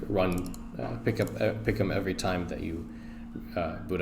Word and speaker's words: picom: I think it's pronounced picom.